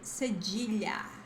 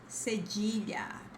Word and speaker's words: cedilha: In Portuguese we say cedilha, cedilha, but the pronunciation of this in English is cedilla.